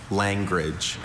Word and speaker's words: langrage: Are there any alternate pronunciations? Just the one. Langrage.